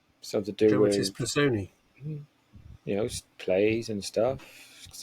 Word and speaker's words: Personae: it right this time, it is apparently pronounced Personae, which sounds wrong to me. But maybe A and E is an E sound.